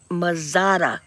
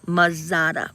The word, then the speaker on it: Mazzata: Mazzata, not mozzarella, Mazzata, Mazzata. Say it right if you're gonna say it.